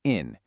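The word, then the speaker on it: 인: In Korean hanja, that's pronounced in.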